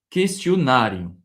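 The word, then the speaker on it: questionário: Questionnarium, d'accord ? Encore une fois avec l'accent sur le A. Et donc c'est là on va apporter plus de de force dans la prononciation.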